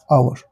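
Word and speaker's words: hour: दिख रहा है तो आवर का उच्चारण क्या है फिर से वही पकड़ उच्चारण प्रोनाउंस क्या है उसका प्रोनाउंस दिख रहा है आपको यहां एच है औ है जब इसका उच्चारण ओ है इसका मतलब यहां पर क्या आ जाएगा एन आ जाएगा सिंपल इतना कासेप्ट क्लियर है आप लोग को?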